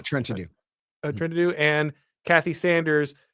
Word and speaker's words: Trentadue: Is that how you say it? Trenton Dew? Yeah, Trenton Dew.